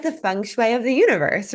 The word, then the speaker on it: feng shui: we're so excited to have you here and have your expertise here, because I feel like feng shui is, am I saying it right? Feng shui. Yeah, 100%.